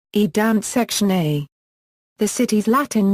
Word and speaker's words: Danzig: The German name, Danzig, is pronounced as Danzig.